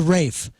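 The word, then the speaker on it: raphe: The rape. No. Pronounced just like our dear Rafe Williams.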